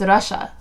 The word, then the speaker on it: Rasha: I'm like, she tells me to say her name Russia. So, like, why does her own damn friends not know this? It's because it's Arabic and it's pronounced Russia.